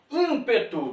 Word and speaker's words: ímpeto: Ímpeto, está aqui também. Você pronuncia esse M? Não pronuncia. Se não pronuncia, aqui temos duas letras com um único som.